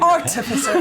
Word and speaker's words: artificer: and she became an artificer. Am I saying that right? Artificer. I'll say it with, you have to pronounce every piece of it. You say it exceptionally well. Artificer.